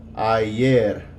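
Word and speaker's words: ayer: a y is going to sound like I I yeah I yeah and means yesterday so boy today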